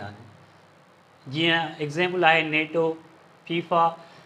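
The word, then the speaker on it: FIFA: Similarly F आई एफ ए करे न पढ़ंदासीं, हिन खे असां फीफा करे पढ़ंदासीं, त हे कंप्लीट वर्ड थी थो वञे।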